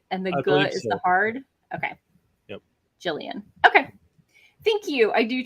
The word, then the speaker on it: Jillian: Jillian says it's a soft G, but it's a pseudonym,